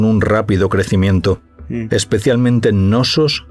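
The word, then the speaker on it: Knossos: En realidad se pronuncia nosos y festos.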